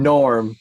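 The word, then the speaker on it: Gnorm: Norm, but Norm spelled with a G Like- in the like a front.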